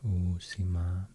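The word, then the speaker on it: Uusimaa: and to pronounce so i will try to stress the the two double vowels here oh sima oc means new and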